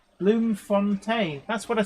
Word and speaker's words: Bloemfontein: Translation from Afrikaans to flower fountain or flower spring, pronounced Bloemfontein.